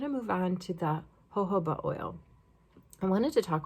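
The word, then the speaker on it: jojoba: true 2 milliliters of hoba oil it's spelled j o j o ba but you pronounce it like with the Spanish sound with the H the ho like Jorge hoba oil the hooba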